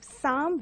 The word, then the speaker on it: psalm: And you have psalm, which is a poem. And here you have P and L as silent.